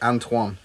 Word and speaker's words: Antoine: us that's not Anton which I must have pronounced it Antoine because at the end he spells it phonetically and long so Antoine